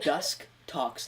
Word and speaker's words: Dustox: Dusk Tox, like dusk and toxic.